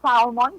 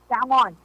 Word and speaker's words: salmon: Mga malasay nga isda, pero sang salmon ang pagpunaw sa mga millennials na kagamo din man ang correct pronunciation. It's not salmon, kundi salmon.